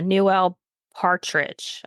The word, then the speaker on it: Newell Partridge: Point Pleasant farmer, um, Newuel or No, yeah, Newell Partridge, I think is how you say his name.